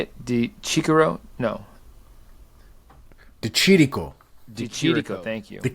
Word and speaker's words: Di Chirico: Di Chirico.